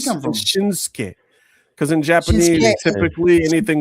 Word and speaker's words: Shinsuke: Like Shinstei, but it's Shinsuke. Like, how do you get? Where's the T come from? Shinsuke.